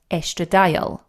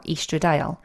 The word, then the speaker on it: estradiol: And the main kind of queen bee within the estrogen that we lose is called estradiol, or estradiol, depending on how you want to pronounce it.